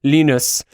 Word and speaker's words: Linus: So beyond the absolute world-rocking placebo effect answers that we got from Linus, whose name I have made it my life's work to be able to pronounce correctly with the German pronunciation, Linus.